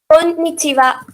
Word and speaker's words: konnichiwa: Konnichiwa. Konnichiwa. The double N doesn't pronounce as double N. It is konnichiwa. Two different words are connected.